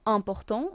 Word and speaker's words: important: Then we have important, which means important. It's the same word in English and in French, it's just pronounced differently.